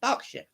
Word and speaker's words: Berkshire: going down below again it's not even spelled like that it's b-e-r-k Berkshire one but it's pronounced Berkshire oh God I'm not